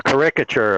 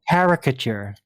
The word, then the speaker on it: caricature: A caricature, a cartoon version of what he's trying to explain. You mean caricature? Well, he pronounced You it put the syllable in the wrong Exactly.